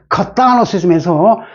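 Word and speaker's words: Catholicism: 근데 이거는 발음이 어떻게 할까요? 하나, 둘, 정통 세모를 시켜서 카탈로시즘에서 발음이 완전히 바뀝니다.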